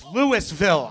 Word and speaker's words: Louisville: We're in Louisville, Kentucky. Nobody's from there because you're not correcting me on how I pronounced it instantaneously. It's not Louisville. It's Lewisville.